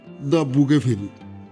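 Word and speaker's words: Bougainville: নাম doctor Vasco বললেন ফরাসি উচ্চারণে তার নাম দা বুকে ফেলি হালদার মশাই মুগ্ধভাবে বললেন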